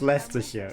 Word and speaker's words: Leicestershire: It isn't spelled how you think. It's not spelled like that either, but it's Leicestershire and you can't even pronounce it.